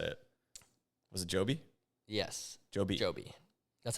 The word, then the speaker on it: Joby: Was it Joby? Yes, Joby. That's how they say it where they are. But in a lot of countries say it differently, I guess, pronounce it differently. But proper is Joby.